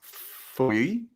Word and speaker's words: feuille: It's almost like oi, like boy, feuille. Feuille. But yeah, it could be, could be a regional thing. Like feuille.